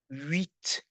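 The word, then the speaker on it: huit: Then the letter u well usually is pronounced like a u but because there's another vowel here in the in the in the word eight. Huh? So we say wheat. Again we have to make a slide wheat.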